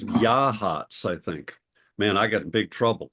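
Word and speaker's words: Yachats: right yahs yahs yeah it's not yahs it's yah hats I think man I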